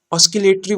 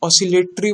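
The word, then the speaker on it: oscillatory: ठीक है, इसका जो वर्ड है प्रोनाउंसिएशन में कभी कभी टंग स्लिप हो जाता है, कभी कोई कोई बोल देता है ऑस्किलेटरी मोशन, लेकिन ये गलत है, ऑसिलेटरी मोशन होता है।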